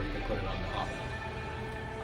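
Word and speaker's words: Nahobino: can put it on Nahabano. I know it's pronounced Nahabino, but I'm gonna say Nahabano because I think it's Nahabano.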